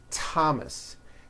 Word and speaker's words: Thomas: Although these next words and names are spelled with a TH, they are pronounced as if they were spelled with a normal T, like that. And these words are Thomas, Thompson, Teresa, Thailand, Thames,